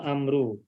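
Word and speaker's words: عمرو: nama umaru ada nama Amru ini penulisannya adalah Ain mim dan ro ada satu lagi Aim mimro dan wawu nah ini penulisannya berbeda pengucapan juga berbeda kalau Umar Bin Khattab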